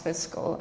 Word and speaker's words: Fiskl: Fiskl, and pronounce Fiskl.